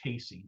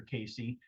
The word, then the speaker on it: Cayce: was this gentleman by the name of Edgar Casey. Some of you may have heard of Edgar Casey. Uh, I learned about him probably two decades ago. And Edgar Casey, he's known as the sleep prophet.